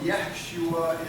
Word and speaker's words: Yeshua: If all of you Hebrew scholars, good Hebrew scholars out there know, Yeshua is the Hebrew pronunciation, I guess, if you will, of our English translation, Joshua.